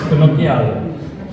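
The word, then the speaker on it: cannocchiale: Then when we get to the cluster, I'm not Italian, but I pronounce it Conaciale. I don't know if it's right. Quintus? Conocchiale. That one, yes, Conocchiale.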